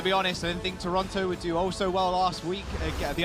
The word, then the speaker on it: Toronto: I know I didn't pronounce the second T. That's how the natives say it, Toronto.